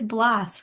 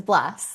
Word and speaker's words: Blass: learned that I have been saying her last name wrong. So it's Blass, right? It is. I wouldn't have corrected you. I've heard it my whole life. I don't even notice. But yes, it is Blass.